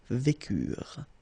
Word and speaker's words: vécurent: Nous vécûmes, final S not pronounced, vous vécûtes, same thing here, ils vécurent, so remember, mark for the plural, E and T is not pronounced phonetically, you don't get it, so vécurent.